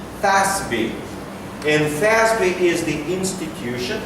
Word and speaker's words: FASB: It's pronounced as, in English, FASB.